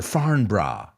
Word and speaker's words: Farnborough: one on our list farnborough or foreign bra as the british would say it's in england so i guess we have to pronounce it like they do it's one of the